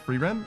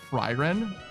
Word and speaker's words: Free Ren: Why Free Ren says lots of people kind of pronounce it like Fryren. Drives me nuts.